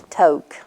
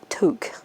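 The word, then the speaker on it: toque: were calling the tilted toke you know well our friend heather she informs us it's took it's t-o-q-u-e we was pronouncing it like t-o-k-e we all just died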